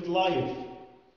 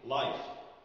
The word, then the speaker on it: live: كلمة live، live لو ما نطقناش ال V صح هتطلع إيه؟ life، life يعني حياة.